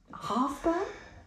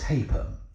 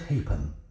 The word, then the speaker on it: Halfpen: You've chosen a fairly obscure recording played by Bernard Halfburn. It's pronounced Hapen. Yes, Bernard Hapen.